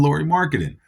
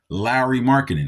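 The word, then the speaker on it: Lauri Markkanen: not a knock on Lori marketing Larry marketing excuse me I I believe I've been saying it wrong um he did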